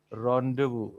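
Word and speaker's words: rendezvous: So people would generally pronounce it as rendees was but then the way it is pronounced actually is rendevu.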